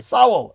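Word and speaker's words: Sowell: He opens the book and Thomas Soul, this guy, my uncle was always like, you got to listen to Thomas Soul, whatever his name was. What was his name? Say his name. Saul.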